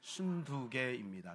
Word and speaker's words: 순두게: 순두개는 이제 발음을 잘해야 됩니다. 순두부가 아니라 순두개입니다.